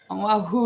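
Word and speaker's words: Oʻahu: Island of uh wahoo is how you say it.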